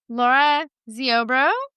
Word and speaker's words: Lara Ziobro: And I have a special guest on today, Laura Zorbro. I think I pronounced that right.